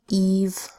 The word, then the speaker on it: Eve: to say F so we add a silent final E so we know so readers know that this is a long e sound e e Eve and